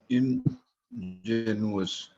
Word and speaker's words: ingenuous: Then there's another word which is pronounced as ingenuous, Ingenuous.